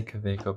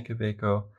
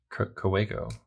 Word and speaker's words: Kaweco: lot by the way i know that there's maybe a little bit of a debate about how to pronounce kaweco i say kaweco because most people say quebeco but if you watch videos by gold spot they actually say cowego i think and in some